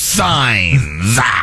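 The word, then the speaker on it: Sainz: It rhymes with fines, but it's signs.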